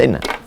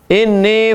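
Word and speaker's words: إني: Kalau nampak di bawah tasdid bacanya ini. Coba tengok. Di bawah. Bacanya ini, jangan baca inna. Inni faratukum, sesungguhnya aku akan mendahului kamu.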